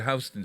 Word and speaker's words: Houston Street: that have to you like for instance houston street in new york city h-o-u-s-t-o-n would be to you if you didn't know what houston street was would be what houston houston distance yeah it's exactly right